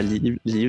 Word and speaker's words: Lyv: Et allez jeter un coup d'œil évidemment à Liv, ça s'écrit Lyv.